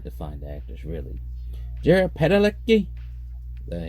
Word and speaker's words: Padalecki: Jared Padalecki, that's how you pronounce it, Sam Winchester, was familiar with director